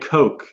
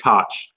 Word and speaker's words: Koch: The mayor here is Ed Koch, or my bad, I pronounced it wrong, Ed Koch.